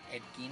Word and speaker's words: Gein: Como les dije, se llama Ed Gein, así como suena, G-E-I-N, Ed Gein, de hecho creo que es como se pronuncia.